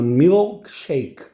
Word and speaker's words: milkshake: Se você quiser falar com a pronúncia correta em inglês, você tem que exagerar no L. Então, milkshake, né?